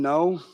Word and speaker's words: Noe: my name is no pronounced no opposite of yes and if you ask